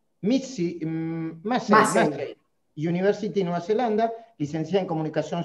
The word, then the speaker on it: Massey University: Se pronuncia Massey University, Nueva Zelanda, licenciada en Comunicación Social de la Austral.